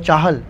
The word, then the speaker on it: Chahal: My dad is very possessive of the name… He often says “Tell them your name is Chahal not Chahal (pronunciation).